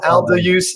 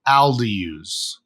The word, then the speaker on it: Aldayuz: So, it's actually Alduse.